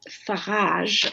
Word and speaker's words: Farage: France with marine lepen in England with Nigel Farage as he likes his name to be pronounced and the victory also in Italy of